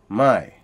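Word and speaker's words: ใหม่: Then you have a low tone, which means new, mai.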